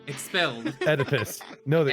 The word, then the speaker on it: Oedipus: Oedipus. No, the Oedipus ending. It's spelled with an O, though.